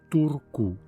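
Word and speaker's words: Turku: Finlande s'écrit ainsi or en finois la marque en forme de fer à cheval représente le son ou et donc en finois il prononce tourkou je vais à tourcou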